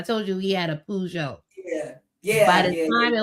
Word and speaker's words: Peugeot: Yeah, they didn't know how to say it. Peugeot. He talking about it's a Peugeot. Get it right.